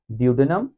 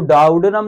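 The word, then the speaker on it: duodenum: मेरे साथ साथ, ड्यूडेनम, जेजुनम, आइलियम। इसको इलियम नहीं पढ़ना, इसको जेजूनम नहीं पढ़ना, इसको डाउडेनम नहीं पढ़ना, जो मैं पढ़ रहा हूं वही पढ़ना है, ड्यूडेनम, जेजुनम, आइलियम।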